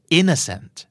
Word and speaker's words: innocent: influencer นั่นคืออินเฟรนเซอร์ครับอย่ามาทำเป็น innocent innocent คืออะไรครับใสซื่อบริสุทธิ์ทำเป็นไม่รู้ไม่ชี้ On ตอนโลกซื่อใสไร้เดียงนะครับนั่นคือ innocent เจ้าของภาษาออกเสียงว่า in Essence in ถูกเน้นครับเนื้อสัน 2 พยางค์สุดท้ายเป็นช่วงอีกแล้วนะครับ in the Sands indocin indocin จะไม่ออกโนเซนต์ซะทีเดียวเพราะมันเป็นพยายามที่ไม่ถูกเน้นนะครับเพราะมีถูกเนียนปั๊บส่วนใหญ่บ่อยๆเลยจะกลายเป็นชวนนะครับเนื้อสัตว์ isn't a เอ่อ inson นั่นคือ innocent